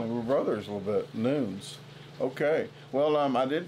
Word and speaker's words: Nunes: the same thing you're you're actually pronouncing it in the Portuguese way oh song by yeah okay so yeah noons is how it's supposed to be pronounced it's a silent Nunes is how we pronounce